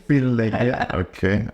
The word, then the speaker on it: Obileye: Did I pronounce? Obileye. Close. Obileye.